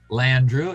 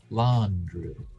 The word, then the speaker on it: Landru: got uh kirk and your pronunciation of landru is it landrieu l-a-n-d is it what he just kirk says right now laundry uh and later on we've got a lawn lawn drew we've got l-a-w andrew i mean it's pronounced all sorts of different ways and i make little